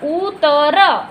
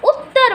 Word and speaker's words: उत्तर: अगर उतर ऐसे बोलेंगे हम, अगर त का उच्चारण, लेकिन हम उत्तर बोल रहे हैं, मतलब त को जोर देकर बोल रहे हैं।